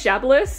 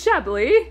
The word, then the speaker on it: Chablis: I used to pronounce it as Chablis because I had no idea that the S was silent, so This is Chablis.